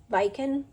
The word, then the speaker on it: Viken: So what I am using today is 49 Market's Art Options Viken is what I'm going to go with, is how that's pronounced.